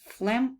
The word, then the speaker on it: phlegm: Phlegm – это мокрота. Эти две буковки Ф, и вот эта у нас буковка не произносится, она немая.